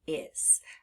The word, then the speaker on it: is: so you know why this word is pronounced is and that's why we have that temporary heart under the letter s now let's spell the